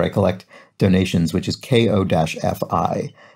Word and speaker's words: Ko-fi: collect donations, which is KO-FI. And I generally pronounce that coffee. And then I watched a video on their website and they pronounced it Kofi.